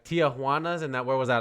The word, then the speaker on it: Tijuana: a lot of people, instead of saying Tijuana, of course, they're not going to say it in Spanish. They're going to say, they're not going to say it in English either. They're going to say Tijuana.